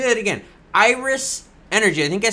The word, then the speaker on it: Iris Energy: Shares of Irish Energy, god damn it, Klaus. Shares of Iris, I'll say it right, shares of Iris Energy were up Tuesday after the company said it